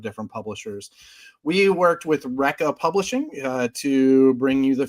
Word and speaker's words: Recca: It is called Recca Comics, and it is pronounced just that way.